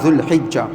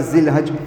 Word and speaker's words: ذو الحجہ: ذو القعدہ ذو الحجہ، دیکھیں اصل تلفظ اصل پروناؤنسیشن ان مہینوں کا یہ ہے، ذو القعدہ ذو الحجہ۔ ہمارے یہاں الگ الگ بولتے ہیں ذی قعدہ، ذی القعدہ، ذی الحج، تو اصل یہ ہے۔ اللہ کے نبی نے